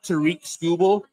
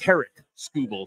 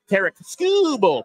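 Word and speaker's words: Tarik Skubal: and Tariq scoel sorry I when I hear Tariq scoble and then I look at Tariq scoble you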